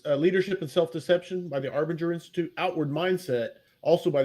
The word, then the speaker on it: Arbinger: self-deception the I'll say another one uh Arbor Arbiter Institute I think am I saying that right Arbor arbinger okay uh it may be our Banger I